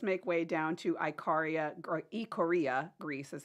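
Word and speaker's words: Ikaria: so um let's make way down to Iaria ioria Greece is how it's pronounced so they're living s years longer than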